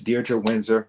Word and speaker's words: Diedre Windsor: And this week, I'm bringing to you a very, very special guest, Miss Diedre Windsor. And yes, that is how you pronounce her name.